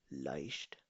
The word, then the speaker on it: leicht: अगर तो कॉम्बिनेशन में ई पहले हो और आई बाद में हो तो इसको प्रोनाउंस किया जाता है हमेशा आई से. ओके, आई से. zum Beispiel leicht.